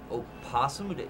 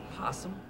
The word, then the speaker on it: opossum: the sight of the opossum oh possum don't you mean possum no I refuse to acknowledge the existence of a silent oh both are correct pronunciations silence Who Dares question